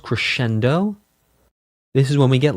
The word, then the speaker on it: crescendo: Crescendo, diminuendo, again with the Italian. Here we go. So, crescendo is cendo. Diminuendo is dimminuendo. Dimminuendo dimminuendo. Crescendo. It's technically to correct it. It is technically correct to pronounce multiples of crescendo as crescendi and multiples